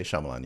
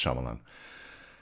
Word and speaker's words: Shyamalan: You say Shyamalan? Yes. I think it's Shyamalan. I think he hates it when people get his name wrong.